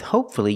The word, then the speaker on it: hopefully: Because with hopefully, you have one syllable before F-U-L-L-Y. Pronounce the U.